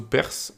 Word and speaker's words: parse: Alors, parse, ça veut dire parse ou perse. Parse, je dirais quand même. Donc, bref, on va le prononcer à la française.